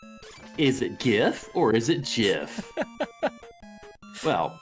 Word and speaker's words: GIF: pronounce g is it gif or is it gif well smile fires with $30 says GIF is pronounced with the G in guitar GIF please put this